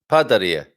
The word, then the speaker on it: padaria: Padaria. Padaria, you stress at the end. So all these words, padaria, pasteleria, cafeteria, merceria, livraria, and I could go on and on.